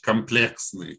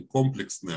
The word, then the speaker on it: комплексные: То есть, как математики на русском языке очень следят за тем, чтобы произносить комплексные числа. Не комплексные, а комплексные. Комплексные, да.